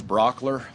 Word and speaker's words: Brauchler: My name is George Brockler. Last name is spelled Brauchler.